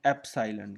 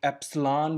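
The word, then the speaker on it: epsilon: Line, इसको बोलते हैं एप्साइलन। क्या बोलते हैं, एप्साइलन। क्या बोलते हैं, एप्साइलन। और कुछ लोग इसको एप्सलॉन भी बोलते हैं, प्रोनाउंसिएशन का फ़र्क है।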